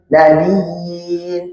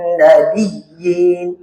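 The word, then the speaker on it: النبيين: Jangan sampai iya minan nabiin minan nabiin nabiyin jangan minan nabiyyin. Nah itu nabiyin.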